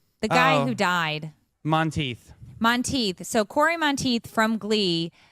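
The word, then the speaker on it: Monteith: Monteth.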